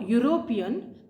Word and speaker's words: European: Yu and VA now the word European begins with the letter e but when you pronounce the sound is y so I will not